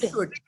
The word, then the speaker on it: should: थोड़ा ध्यान से पढ़ेंगे क्योंकि ये कुल्ड वुल्ड शुल्ड नहीं है. ये एल इसमें है जरूर पर एल को हम बोलते नहीं है. हम सिर्फ एल साइलेंट होता है. हम कुड बोलते हैं. शुड.